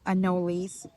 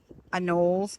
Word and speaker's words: anole: So I do have a lot of predators, mainly anoles. I think the correct pronunciation is anoles, but when I was a teacher, the kids would call them anoles, so that got stuck on me, and I think we